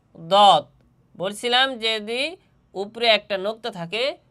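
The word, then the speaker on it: ض: দত হরফের মাখরাজ হচ্ছে জিহ্বার ডান ডান বাম পার্শ্ব। জিহ্বার ডান বাম পার্শ্ব এবং উপরের মাড়ির দাঁতের গোড়ার সঙ্গে লাগাইয়া দত হরফটি উচ্চারণ হবে।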